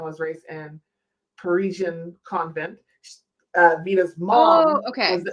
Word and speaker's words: Vita: Plus, I feel like it rhymes with Pepita, which is her grandmother. So Pepita, Vita.